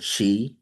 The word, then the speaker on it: qi: That energy is called chi. CHI ch that's the English version Chinese version they spell it QI uh over there in